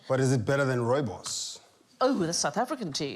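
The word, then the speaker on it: rooibos: yeah it's astonishing but is it better than Robos oh the South African tea isn't it Robos I'm so glad that you said I didn't know how to pronounce that I've been calling it Ruby Boo for years I was 33 still ordering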